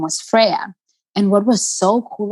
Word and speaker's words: FRYA: sticks but it's pronounced freya it's like saying prayer but with a with an f um and the name